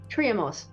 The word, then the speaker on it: Triamos: Triamos. Triamos, thank you. Because in reading it, I was like, it looks like it says try more, which makes Try sense more.